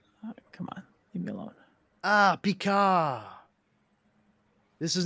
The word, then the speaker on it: Picard: is, I'm pretty sure, the first person I've ever heard actually say his name with the proper French pronunciation. She doesn't ever call him Picard. She calls him Picard.